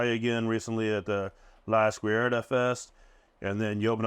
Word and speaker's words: La Izquierda: La Izquierda.